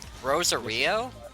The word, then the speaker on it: Rosario: Pronounced Rosario. No, I discussed it with one of my friends at school. It's apparently pronounced Rosary. Plus, I also watched it both Japanese and English. In the English version, they did call it the Rosary.